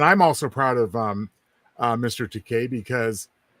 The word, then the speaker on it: Takei: So I'm a big fan of George Takei. Well, who isn't? And I'm also proud of Mr. Takei because how he told William Shatner how to pronounce his name properly, and he said Bill. Rhymes with toupee.